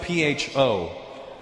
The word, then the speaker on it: pho: It's spelled P-H-O. Pho. But it's not the way it's pronounced.